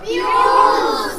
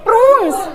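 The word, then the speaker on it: prunes: प्रूस speak loudly बच्चों प्यूस प्यूस नहीं प्रून्स पी के बाद आर है बेटा पी आर यू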